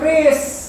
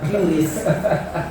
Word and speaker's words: QRIS: Makanya Trump protes soal KRIS, Trump protes soal gerbang pembayaran nasional, gitu lah. Karena bacanya itu KRIS ya, bukan QRIS. Baca, ya kita ikutin orang Indonesia aja bacanya KRIS, itu QRIS.